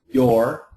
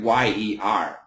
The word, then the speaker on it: you're: Modi so Modi this the perfect pronunciation is your you a little bit faster you're you're and typical American year year so it actually kind of sounds like Yer you're still recuperating yeah